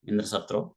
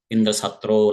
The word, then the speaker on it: Indra: Indra so that's a he has to pronounce in a shorter way Indra but he has pronounced in a longer manner indro like that so he pronounced in